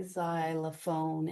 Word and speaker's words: xylophone: And um if it's at the beginning of a word without a hyphen, it's usually pronounced like a Z, like Xylophone.